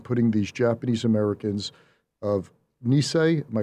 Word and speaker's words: Nisei: the deportations and putting these japanese americans of nisei am i pronouncing that right yes the nisei the which were the uh second generation that's